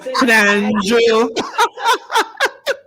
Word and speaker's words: Snandro: Snandro High School. And I like to pronounce it properly, you know. Snandro.